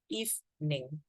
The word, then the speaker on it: evening: you see this word there's a silent e in the middle so you don't have to say evil but you would just say evening if name okay you can just say if the e in the middle is silent good evening Mr Richards